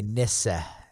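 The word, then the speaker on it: nisse: The Swedish, they pronounce it like Mhm. hissa with a soft Hissa. eh at the end. Hissa. The hissa. And then it would be nissa. So nothing like niece.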